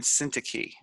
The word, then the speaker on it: Syntyche: I pronounce them Euodia and Syntyche.